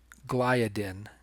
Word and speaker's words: gliadin: I keep pronouncing that wrong. I'm used to saying it gliadin. It's gliadin.